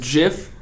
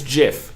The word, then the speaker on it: GIF: It's GIF. No, it's not. You know what I do? You know, because they did it because choosy editors choose GIF.